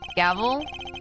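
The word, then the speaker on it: Gavelle: pleasure of the law gavl I mean it wouldn't be pronounced gavel there's a little tiny accent in there and what is the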